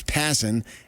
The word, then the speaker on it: Passan: Passan, but Passan, I keep screwing it up because I asked him how do you pronounce his name and it's Passan and he said he's hearing from owners that say we're not going to have a season next year.